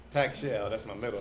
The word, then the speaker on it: Pacshell: how you pronounce the barbecue business name yeah it's pack shell that's my middle name it's pack shell okay I'll be saying yeah it's packed okay